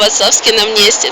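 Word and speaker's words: Václavské náměstí: Праги з вацлавско намнестя Так я справді навчилася вимовляти це слово вацлавськи намнесті намнесті Чеською мово хочу сказа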